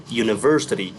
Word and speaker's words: university: So in here university the u sounds like u not a a $1 bill.